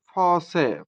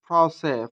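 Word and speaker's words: français: উদাহরণ ফ্রসে, ফ্রসে, ফ্রসে, যার অর্থ হচ্ছে ফ্রেঞ্চ।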